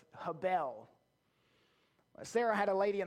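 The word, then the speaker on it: הבל: word vanity comes from the hebrew word habel most often pronounced havel we're going to go with habel sarah had a lady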